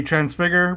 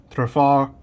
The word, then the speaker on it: Trafalgar: I always say Transfigure, but it's Trafalgar.